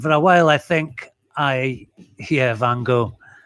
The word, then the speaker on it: Van Gogh: were the works of I always say Van Gogh. I know you Americans say Van Gogh, but because Scots have this sound in our language, Van Gogh, I'm sure they say Van Gogh in Holland and not Van Gogh.